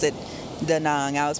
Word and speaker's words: Da Nang: Yes, I am back in Vietnam, and I am in Da Nang. Da Nang. I think you pronounced it Da Nang.